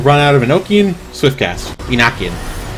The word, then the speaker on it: Enochian: Enochian. That's how you pronounce it. Because it's named after... Oh, what was his name? I know his last name was Enoch, that's why it's called Enochian.